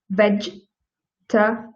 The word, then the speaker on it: vegetable: actually have only three so the first one is vegetable so you see when we look at this word we see four vowels in the word vegetable and our brain starts processing aha there must be four syllables in here but they are not so we pronounce this word like vegeta so yeah you